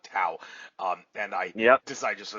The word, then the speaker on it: Tao: I should say, yeah, it's pronounced Tao, not Tao.